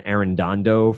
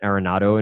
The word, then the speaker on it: Arenado: I it's always him I used to also say Nolan errand Ando for some reason I couldn't get Arenado in my head but I I can